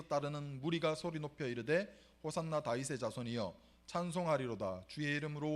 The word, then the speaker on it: 호산나: 사람들은 호산나 다윗의 자손이여 찬송하리로다 주의 이름으로 오시는 이여 이렇게 막 소리 높여서 가장 높은 곳에서 호산나. 이 호산나의 뜻이 뭐냐 그러면 호시아나라는 히브리어의 헬라식 발음이에요.